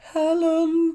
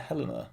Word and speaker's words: Helena: okay extremely niche helen bonham carter in absence of knowing any lyrics to sweeney todd i thought did you say helen by the way isn't it helena i even got the name wrong see i was about